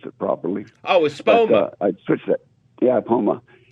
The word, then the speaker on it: Espoma: The growing medium at that time was something from Miracle Grow, but I've since switched to Aposa for this year. Aposa, I can't pronounce it properly. Oh, Espoma.